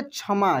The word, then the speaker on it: क्षमा: पढ़ेंगे क्षमा क्या पढ़ेंगे क्षमा च के रूप में उच्चारण होता है जैसे ये छह होता है ना इसी के जैसे प्रनंसीएशन इसका भी होता है लेकिन ये बिल्कुल अलग है दोनों एक जैसा नहीं है अलग है ये जब किसी अक्षर में